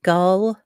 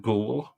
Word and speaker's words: Gould: Gu I pronounce it gull. I can live with Gould.